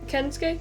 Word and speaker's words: Kensuke: Kensuke? Did I pronounce it right? Yeah.